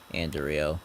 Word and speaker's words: Anderio: Kind of suburbia in a sense, but in the northern part of the city of Anderio. That's how I pronounced it.